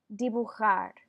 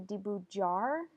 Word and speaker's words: dibujar: y in between there Laird but there's not dibujar repeatin dibujar I have students who want to say D boot jar or deeb you hard and it's the new sound is pronounced like